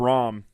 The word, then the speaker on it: Rom: I'm saying Rome, it's Rom. Rob Rom.